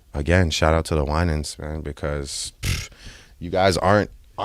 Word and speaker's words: Winans: Summer 16, the Winans. Ooh, yeah. I mean, the Winans definitely. The Winans. Thank you for helping with my pronunciation.